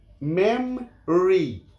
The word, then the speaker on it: মেমরি: এটা মেমরি, মেমরি, মাঝের ভাওয়েল উচ্চারণ হবে না, মেমরি নয়, মেমরি, স্মৃতিশক্তি বা স্মৃতি।